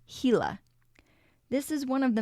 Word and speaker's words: Gila: One of the most interesting creatures of Saguaro is the Gila monster. Spelled Gila, it is pronounced Gila.